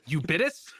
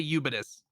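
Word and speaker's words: Ubitus: platforms boosterloid and you you bitus I guess it is supposed to be like ubiquitous with it's a syllable taken out so I'm just gonna say yubidus um eubidus did the switch cloud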